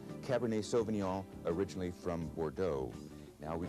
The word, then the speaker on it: Cabernet Sauvignon: Now we have what many consider the best red wine grape in California, the Cabernet Sauvignon. Cabernet Sauvignon, originally from Bordeaux.